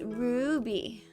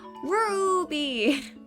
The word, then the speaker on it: Ruby: It's Ruby. You gotta say it with the Ruby, like a roo, a roo.